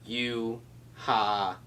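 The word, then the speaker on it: Yhwach: This sexy mustachioed man right here, Yuha. The katakana ends with a sharp ka sound, so you walk? You-ha-vah.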